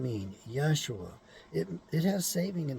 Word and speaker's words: Yeshua: it's not his name his name is Yeshua which means he who saves the anointed the first syllable yah the same as the first syllable of Yahweh yeah and in case